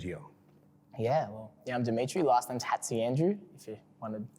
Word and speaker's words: Hatziandreou: Last name's Hatziandreou, if you wanted pronunciation.